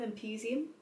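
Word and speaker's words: Empusium: heard anything about it um but is theum imposium that's how you say it a health resort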